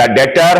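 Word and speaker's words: debtor: कहने का sense the डेटर हैज to frame excuse अब ये इसको डेप्ट नहीं पढ़ेंगे बी साइलेंट रहेगा द डेटर यानी जो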